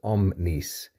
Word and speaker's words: omnis: for each of these I pronounced them as omnis omnis omnis omnis like so and that's because each of these is actually uh plural and accusative each one of these